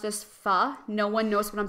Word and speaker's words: pho: Yeah, pho is supposed to be pronounced pho, but like Oh. I see, like I know that, but whenever I pronounce it as pho, no one knows what I'm talking Yeah, about.